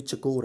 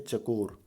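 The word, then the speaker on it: چکور: सा है, तो ये चकोर है। ये स्पेलिंग गलत है, CHAKOR, ठीक है, चकोर, चिकोर नहीं है, एक चकोर है।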